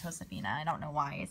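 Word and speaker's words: Josefina: Elizabeth Caroline J Josephina wow I know it's pronounced Josephina I don't know why I it Josephina I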